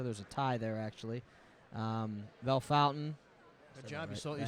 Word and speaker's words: Bellefontaine: 51 points so there's a tie there actually Bellefontaine you said it right yeah correct myself sixth